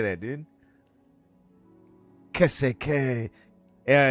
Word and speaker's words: qu'est-ce: Qu'est-ce.